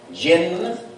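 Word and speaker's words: جن: Now, I don't want you to pronounce it like the English J. I want you to pronounce it like the French J. You know, that sweet J, like Jacques. Jinn. That's how it should be pronounced.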